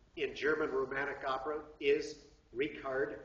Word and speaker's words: Richard: the Towering figure in German romantic Opera is rard not Richard rard vogner W AGN r vogner i mean rard spelled like Richard but pronounced rard sorry uh he